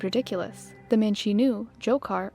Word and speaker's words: Dzhokhar: The man she knew, Dzhokhar, or sometimes pronounced as Jahar Tsarnaev, wasn't some hardened terrorist.